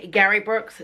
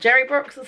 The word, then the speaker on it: Gary Brooks: He pronounces his name Gary Brooks, not Jerry Brooks, so I was wrong in my introduction to this webinar, but it was fantastic.